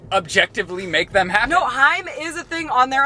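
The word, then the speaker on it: HAIM: in the world and Lizzy will say it's pronounced Heim and I'm like listening time is a band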